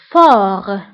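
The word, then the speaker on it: fort: قوي فور, فور. هنا ايضا تي لا تنطق في اخر الكلمه فور. وبالنسبه لضعيف هي فابل, فابل.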